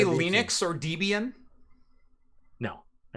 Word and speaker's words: Debian: who created the distro Deb and Ian Debbie and Debian Debian if you say deviant you're wrong because the original creators said no this is how we we pronounce it yeah but people still